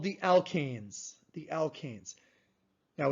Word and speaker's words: alkane: group i will definitely say is called the alkanes the alkanes now it's very important how you pronounce this so listen to how i'm pronouncing